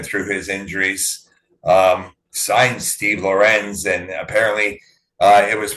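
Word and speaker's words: Lorentz: Signed Steve Lorenz, and apparently it was pronounced Steve Lawrence during his run with Florida, but he has corrected it and he wants to be called Lorenz.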